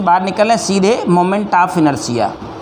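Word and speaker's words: inertia: बड़ी खतरनाक जो है प्रोनाउंसिएशन रहती है, बोलेगा इनर्शिया लिखेगा इनर्टिया।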